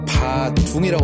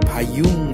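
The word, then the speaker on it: Bà Dưỡng: 그 다음에 이제 배가 고프니까 저녁을 먹으러 반세오로 베트남 전체 제일 유명한 저기 바둥이라고 써있는데 베트남 발음으로는 바융 이렇게 발음해야지 알아들어요.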